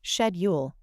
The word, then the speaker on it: schedule: commonly pronounced SC while in British English it's often pronounced shedule both pronunciations are considered